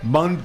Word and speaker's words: Bundt: Bunt cake. Yeah, but he was saying it bunt like a baseball bunt.